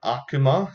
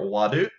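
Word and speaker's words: 悪: So, like we said before, Akuma, so evil, it can be pronounced Aku or Wadu.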